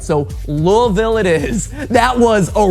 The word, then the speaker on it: Louisville: I had Kentucky friends tell me that you pronounce as few letters in the name of the city as possible and you might get it right. So Louisville it is.